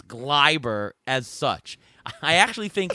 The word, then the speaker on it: Gleyber: It is Gleyber because John Sterling says that it's Gleyber Day whenever he hit a home run, so it's Gleyber.